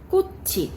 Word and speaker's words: 꽃이: 이행이네요 비어있는 소리이기 때문에 앞에 있는 받침이 뒤에 첫소리로 이동해서 발음이 됩니다 이런 걸 우리가 연음이라고